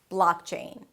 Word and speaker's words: blockchain: The "blaak" is the primary stress. Higher in pitch, longer, but you already know that. Blockchain.